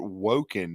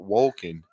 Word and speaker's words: Wolken: No, but you pronounced it Woken, not Wolken.